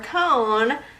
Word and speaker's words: cone: is going to be cone, and that has a long O because of our sneaky E at the end.